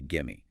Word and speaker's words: gimme: And it notes that give me is very frequently reduced down to gimme. It says something like, it's not overpronounced, but gimme. It's a contraction you hear constantly.